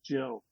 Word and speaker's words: Gill: But then you find out that actually Gill has a soft G. Her name is Jill.